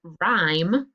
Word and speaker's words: rhyme: The word rhyme, what's the silent letter? What's the combination? RH, good. And then the silent letter is the H.